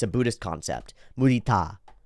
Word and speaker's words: mudita: But in Pali and Sanskrit, mudita, which is, it means joy, especially sympathetic or vicarious joy, the pleasure that comes from delighting in other people's well-being. It's a Buddhist concept. Mudita.